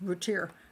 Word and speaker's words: Routier: say that woman's name routier i always want to say ut because it's french looking but i thought it